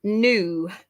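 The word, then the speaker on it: nu: letter and it makes the sound um and new which makes the sound so very similar to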